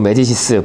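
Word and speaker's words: Médicis: 루벤스의 야심의 대작, 마리드 메디치 또는 뭐 메디시스, 불어로는 메디시스라고 읽는데요.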